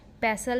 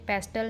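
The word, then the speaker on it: pestle: मूसल एंड खर्ल, जिसमें हम मसाले वगैरह कूटते हैं, पेसल एंड मोर्टर, पेसल में टी साइलेंट है इसलिए पेस्टल नहीं पेसल बोलते हैं।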